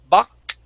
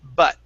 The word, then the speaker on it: butt: Cuando decimos la T, en vez de decir buck, it's butt. So your Buck. tongue has to come all the way to the front.